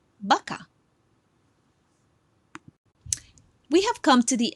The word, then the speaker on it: vaca: Remember, the V is not the same sound as you would pronounce in English, meaning a word like vaca, your sound comes from your lips. You should not say vaca. It should be vaca.